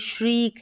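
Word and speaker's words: shriek: के रूप में होता है, यानी ई इसका उच्चारण आता है साउंड, तो ये श्रीक है।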